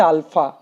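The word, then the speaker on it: alpha: আমি আলফা বলছি মানে তোমরা অনেকে ইনফিনিটি মনে করবে, তা নয়, এটা কিন্তু হচ্ছে আলফা, উচ্চারণটা হচ্ছে আলফা, আলফা, আলফা beta, Greek অ্যালফাবেট।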